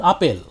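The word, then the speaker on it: আপেল: words from other languages when bengali took the word apple from english it is not pronounced apple it's pronounced apeil a table in english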